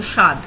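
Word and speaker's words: স্বাদ: basically the spelling of shaad in bangla but in pronunciation it's a very very light touch of of so it's pronounced almost as if the w is not there so shad there are total six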